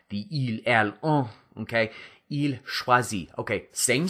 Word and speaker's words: choisit: Il choisit. Okay, same sound. Drop that drop that R, but add a T, not an S. Okay, same pronunciation.